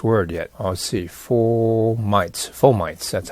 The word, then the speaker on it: fomites: We go back to formites, and then I'll refer again to this earlier part.